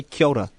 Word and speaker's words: Kia ora: We say Kia ora. Kia ora. Because that's the official that's the proper pronunciation.